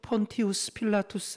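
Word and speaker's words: Pontius Pilatus: 아는 유명한 이름의 주인공이에요 정확한 발음으로 폰티 우스 필라투스 라고 하는 이 빌라도는 원래 로마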